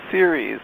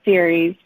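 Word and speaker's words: Ceres: that say it again I say it as series but you know it's cereals and grains but how do you pronounce it yeah series I think in yeah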